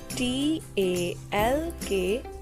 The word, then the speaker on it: talk: bites i do not t a l k talk here l is silent talk w h i